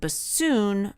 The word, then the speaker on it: bassoon: to remind you that bassoon rhymes with buffoon he is a world